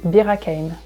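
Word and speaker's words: Bir-Hakeim: you can go to Birakeim. Birakeim. Birakeim. So this one is a bit tricky because it's not a French name, so we pronounce it with a French accent.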